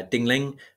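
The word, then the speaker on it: Ding Ling: at the time uh dingling which is spelled exactly how it sounds I was an author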